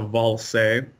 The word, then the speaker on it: Ballze: yeah its if you if anybody tries to pronounce it it's it's as if you spelled it V a ll s ISA ball say if you look at